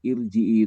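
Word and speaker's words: ارجعي: Irji'i itu eh, kalau roknya didahului oleh kasroh itu mesti akan tipis gitu ya. Irji'i, tapi khusus untuk itu, untuk irji'i ini tebal dia bacanya.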